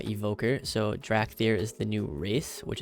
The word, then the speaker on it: Dracthyr: this is pretty huge i think it's pronounced drac theater uh evoker so drak there is the new race